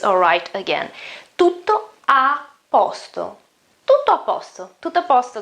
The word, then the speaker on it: tutto a posto: to top pasta and when I pronounced it quicker faster the first o isn't pronounced that well to the pasta you can just skip it okay now these are